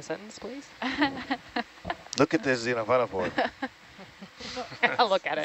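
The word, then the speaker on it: xenophyophore: it in a sentence please look at this Zena for look at it Zena for I don't know if that counts nice little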